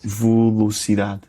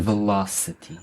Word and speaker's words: velocidade: Velocidade. Não, velocidade. Velocidade. Velocidade. Não é velocity.